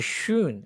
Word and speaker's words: schön: এটা schon আর এটা হচ্ছে schön। এটা schön আর এটা schon। একটু মানে pronunciation একটু ইয়ে আরকি।